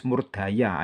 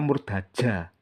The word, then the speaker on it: Murdaja: Karena ada beberapa sejarawan yang menulis Murdaya, itu keliru. Kenapa? Karena di prasasti tertulisnya Murdaja, ya. Kayak kalau apa? Ini nama Sanskerta, ja harus dibaca ja, bukan dibaca ya. Itu bukan ejaan Belanda, ya.